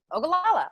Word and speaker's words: Ogallala: So teach me right quick, how do I say, is it Ogallala? Ogallala aquifer, yep. Ogallala. Oh, wow. Just like it said, like it's spelled.